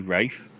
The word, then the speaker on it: Ralph: great finds its spelt although it's spelt Ralph does that mean Ralph the dog from bloomin The Muppet Show is actually Rafe can we confirm that